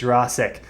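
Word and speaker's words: Yurosek: in Benjamin urasek right I didn't realize until tonight that I was pronouncing his name wrong I was saying URC I think it's urasek right coming from Stanford has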